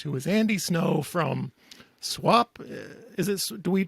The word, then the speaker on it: SWOP: introduce my guest who is Andy snow from SWAP is this do we pronounce it swap yeah and it's a sex